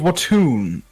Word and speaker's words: Watoon: The Great City of Watoon, I believe it is pronounced.